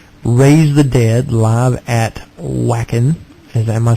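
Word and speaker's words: Wacken: the Dead live at whackin is am I saying that correct correct w a c k n I think it's like pronounced V Von yeah it's German yeah I'm sure that was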